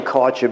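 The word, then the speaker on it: Kärcher: is caught your okay I'm saying Karcher because it's spelled like Archer with a K in front of it and this guy weighs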